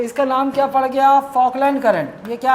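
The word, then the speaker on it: Falkland: फोकलैंड current. यह क्या है? एल साइलेंट रहेगा ना? फोकलैंड current.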